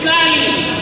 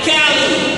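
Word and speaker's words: calli: Cali Cali, c a l l i, Cali.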